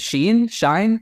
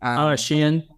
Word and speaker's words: Shein: Now what we're seeing is that like Temu, and was it Shine? I'm pronouncing that correctly. Shein.